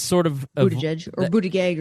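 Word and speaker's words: Buttigieg: All right, that's sort of Buddha Judge or Buddha Gag or it has evolved here in Indiana. And that's another thing that nobody can figure out because he says it differently uh now versus a few years ago. So Buddha Judge, which is what I'm going to go with until I'm corrected.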